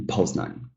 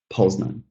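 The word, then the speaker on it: Poznań: The same thing goes here. We got the names of places, right? I believe we're all here in Poznan, right? Warszawa, Poznan. The same kind of stress.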